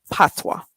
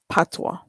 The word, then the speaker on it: patois: that um patois pat p-a-t-o-i-s pronounced patwa so there it is patwa hey family of six